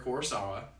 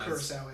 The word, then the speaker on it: Kurosawa: more films from Akira Kurosawa. Hopefully I pronounced his last name is a lot of vowels. And Kurosawa, yeah. Kurosawa, okay. Yeah.